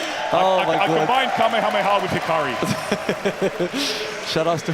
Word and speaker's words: Kamehameha: I'm sorry, Tarrant, you pronounce it wrong. It's Kamehameha.